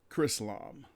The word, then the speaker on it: Chrislam: You spell that C-H-R and then end it with Islam. Chrislam.